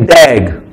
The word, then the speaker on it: DAG: a directed a cyclic graph which we call pronounce as a dag okay so we going to use this word